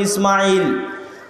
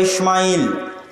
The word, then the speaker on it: ইসমাইল: সালাতু সালামের নাম পাবেন আমরা সিন হালকা করে উচ্চারণ করি ইসমাইল তারা বড় করে মোটা করে উচ্চারণ করে ইসমাইল এবং তারা এটাও স্বীকার